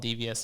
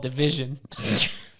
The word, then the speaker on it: DVSN: act and isn't it it's not even called devious and I'm saying it because we kept calling him dvsn but it's called division I'm pretty sure yeah that's how you say it yeah but they have